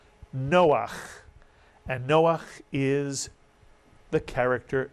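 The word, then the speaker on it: נֹחַ: Two vowels, two syllables. Noach.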